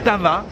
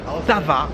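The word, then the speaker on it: Vltava: la ville de Prague attention au nom c'est la tava tava c'est difficile à prononcer V l t va il y a deux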